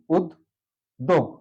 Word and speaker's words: উদ্যোগ: এবার আমি একটি শব্দ নিই উদ্যোগ। উদ্যোগ। উদ্যোগ যেহেতু বলা হচ্ছে মাঝে থাকলে কি হবে? দুইবার উচ্চারিত হবে, তাহলে সঠিক উচ্চারণ হচ্ছে উদ। এখান থেকে গেলাম হর্ষন্ত ব্যবহার করলাম উদ দোগ।